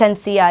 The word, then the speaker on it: Shenseea: Is the pronunciation correct? Shenseea, yeah.